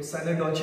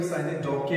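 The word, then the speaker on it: synecdoche: कोई साइनेडोचे बोलता है, कोई साइनेडोके बोलता है।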